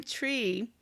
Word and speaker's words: Twi: That means welcome in tree. Yes, it's spelled TWI, but that is one of the official languages in Ghana.